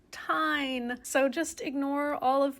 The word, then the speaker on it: TIJN: It's not on their website, but it is in fact pronounced TIJN.